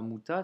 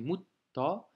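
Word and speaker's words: مُتَّ: La lettre te avec une shedda, donc on doit doubler la consonne. Et il y a la voyelle a. Donc, mutta. Tu vois, c'est pas muta, c'est mutta.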